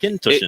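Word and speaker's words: Auchentoshan: This is Akintoshin. Is that right? Yeah, pretty much. You got to say it like Akintoshin.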